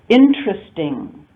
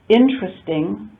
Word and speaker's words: interesting: Interesting. We don't usually pronounce it interesting. We say interesting, 3 syllables.